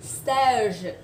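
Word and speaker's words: seize: Cái này nó không đọc giống như 16 đâu ạ. Say tiếng Anh không phải thế ạ. Nó đọc là stage.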